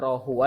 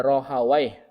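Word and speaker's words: راهويه: Ada yang bacanya rohu huwa ada rohai. Boleh dua-duanya ya.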